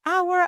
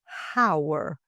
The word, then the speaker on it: hour: The silent H. Silent H often occurs at the start of words again, and its misuse is common when people aren't familiar with its rules.